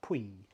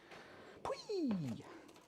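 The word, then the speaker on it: Puy: But for some reason, I think because of the region in France they're from, they're pronounced Pui. Pui!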